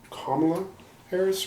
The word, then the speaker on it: Kamala Harris: Yeah, that was just kind of a bad thing, and I was just I was checking my pronouncing it as Kamala Harris, right?